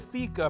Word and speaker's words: fika: Now, the Swedish word fika, pronounced fika, means to have coffee or a coffee break.